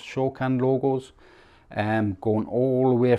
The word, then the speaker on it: Shokan: Throughout the center artwork, we do have these, I think it's Shokan, it's pronounced Shokan logos, going all the way through the unit.